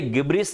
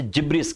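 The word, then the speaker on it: gibberish: इसे गिब्रिस नहीं, आप इसे जिब्रिस कहते हैं।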